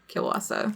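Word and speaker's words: kiełbasa: poland their family and they definitely pronounced it like kiwasa are you sure were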